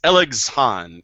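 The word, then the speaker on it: ἔλεγξον: and El elexon him I can't quite pronounce it it's elexon e l e GX o n in English letters go and elexon him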